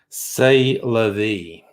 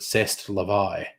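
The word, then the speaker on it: c'est la vie: i've ever had um say la vie or as the french actually pronounce it cest levi um as your dad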